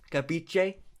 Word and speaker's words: capisce: can't call me cow capisce it's pronounced cabiche it's italian i was being a